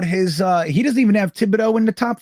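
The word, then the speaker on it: Thibodeaux: I mean, I'm trying to imagine like Hutchinson at 4 and Thibault at 10. Like that. Thibodeau? Yeah. Thibodeau. Yeah, I always say his name wrong.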